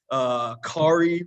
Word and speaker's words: Kaare: Kaare rhymes with Atari.